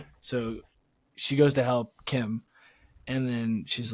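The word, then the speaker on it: Kh'ymm: Probably people are yelling like it's I can't pronounce that. Kim. Oh, it is Kim. It's Khymm. But I don't know if they pronounce it like that. Wait, Kuhymm?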